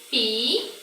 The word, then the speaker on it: piscina: Quando eu falo a palavra piscina, eu oculto um som, ou seja, eu não pronuncio um som. Onde está o dígrafo aqui, ó? O dígrafo é SC. Ó, piscina. Mas quando eu pronuncio a palavra, eu falo dessa forma, ó. Pi-si-na. Eu não falo o som do S.